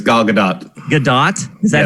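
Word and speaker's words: Gadot: pronounce her name it's gadat gdat is that how she the t is not silent the t is there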